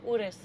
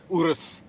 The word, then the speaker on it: Urus: I just like looking at this yellow Urus right there. Yeah. Very nice. No, it's Urus. Urus. Just say it like an Italian.